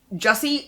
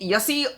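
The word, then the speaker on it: Jussi: author anywhere else uh Jesse yussi Alder Olsen Adler Olsen I've been pronouncing the name wrong for years too so sh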